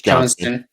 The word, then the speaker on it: Johnston: Is it Johnson or Johnston? It's Johnston. Johnson.